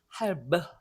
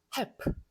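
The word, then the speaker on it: halb: 할브 하는 것보다 할프 이게 훨씬 쉽거든요. 자, 요 L은 묵음이 아닙니다.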